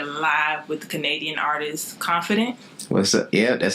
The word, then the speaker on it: KONFIIDENT: This is your girl Brianna, and we are here live with the Canadian artist KONFIIDENT.